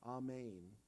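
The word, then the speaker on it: אמן: verily is an Aramaic it sounds like this ahmein which is the proper pronunciation of that word that you hear at the end of prayers all men I mean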